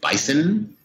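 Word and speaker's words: BISN: be my youtube channel is B is n I pronounce it bison it's an acronym for best innovation story network so I've been attacked by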